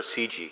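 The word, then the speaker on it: CIGI: for international governance innovation or CG as we say my name's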